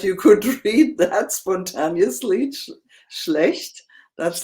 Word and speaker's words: schlecht: Schlecht. That's not schlecht, so easy because we have SCH. This is pronounced like the SH in English.